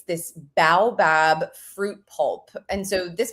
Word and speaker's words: baobab: It's this baobab fruit pulp.